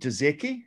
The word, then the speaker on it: Dudzecki: I've got Richard Dudzecki. Is that how you say it? Dudzecki?